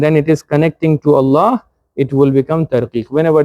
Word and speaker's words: Allah: Fatha is connecting to Allah, inna allaha. Ya'lamullahu, mim has a dhamma. So Allah is getting connected by a dhamma. Ya'lamullahu, again it will become a tafkhim, means a heavy pronunciation.